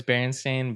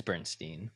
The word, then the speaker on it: Berenstain: it is I mean I know it's Berenstain but it's like deep into my childhood consciousness and it's Bernstein you know so anyways